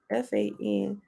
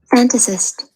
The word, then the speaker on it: fantasist: a i know i probably say to write f-a-n-t-a-s-i-s-t-s i'm gonna start doing this y'all i'm listening how you say it franticist fantasist okay i was tripping he has nothing